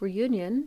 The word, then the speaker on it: Reunion: This washed up on the tiny island of Reunion, to use its English pronunciation, but I do know it's a French island, on the other side